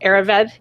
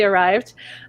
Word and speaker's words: Arryved: For those of you who don't know or who think it's pronounced Arryved, it's actually Arryved.